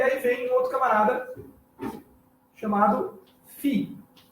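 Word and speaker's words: φ: Mas, na época da Koiné, ou seja, na época do Novo Testamento, ele já tinha se transformado num F, num Fi. É por isso que farmácia se escreve com PH, mas tem o som de F.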